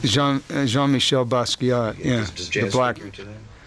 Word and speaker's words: Basquiat: Is that how you pronounce it? Jean-Michel Basquiat.